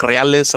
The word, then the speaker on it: reales: so you actually say reales. I know a lot of people in the Midwest say real or Yeah, they say real.